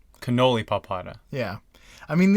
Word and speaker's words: Canalipalpata: I mean, these seem really phonetic, but they're so long and they have so many unfamiliar syllables that you get lost in the You weeds. just need to know when to put the accent.